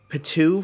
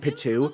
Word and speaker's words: Pitou: She was wearing the outfit of Pitou from Hunter x Hunter with dual disc, which is pretty cool, pretty fun.